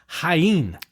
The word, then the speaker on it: Jaén: But DNA tests showed that Mencía is genetically identical to the Portuguese grape name Jaén, which looks like Jane, Jean, but it's Jaén.